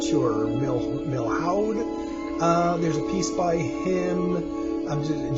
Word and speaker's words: Milhaud: So Darius Milhaud, I think is how you pronounce his name. I'm not sure. Milhaud.